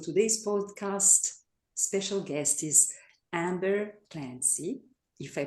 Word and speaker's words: Amber Clancy: Uh so, today's podcast special guest is Amber Clancy, if I pronounce it correctly.